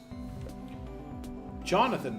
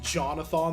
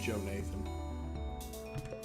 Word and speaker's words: Jonathan: You pronounced it Jonathan the whole time like a butthole. John used to get really upset if we pronounced his name Joe Nathan.